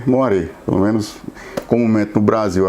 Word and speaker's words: moiré: de frequência de tela escreve moiré né Eu não sei se essa pronúncia não não entendo e francês mas se lê moar pelo menos comumente no